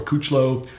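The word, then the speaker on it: Kuclo: Rafael Brandon Currie Charles Dixon of course steve coock low or couch low as you say is the proper way to pronounce it Josh aluminum its dominance Victor Martinez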